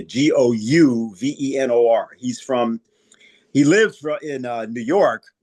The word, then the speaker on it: Gouverneur: And then at the time of the Constitutional Convention, people like Gouverneur Morris, that's his name. It looks like governor, but it's spelled with a U. So it's a Gouvenor.